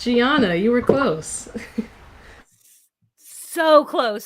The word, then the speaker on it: Giaunna: um you were all you were there it's gianna you were close so close so close that